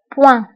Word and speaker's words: point: بالنسبة للبوان أيضا نكتبها بالتف آخر الكلمة ولكن لا ننطقها نقول point.